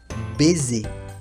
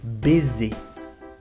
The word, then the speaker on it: baiser: Ahora, si la S está situado entre dos vocales, su sonido cambia y se convierte en Z, Z. Por ejemplo, un baiser, un beso. Un baiser, baiser.